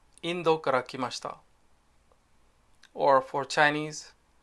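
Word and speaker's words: インド: example Russia is Rocha in Japanese India is Indo and China is Chugoku I'm going to make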